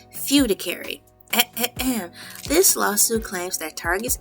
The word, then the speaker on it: fiduciary: Now, that word that I pronounced wrong is spelled f i d u c i a r y. Fudicary e.